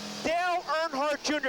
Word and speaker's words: Dale Earnhardt Jr.: Dale Earnhardt Jr. Did I pronounce that right?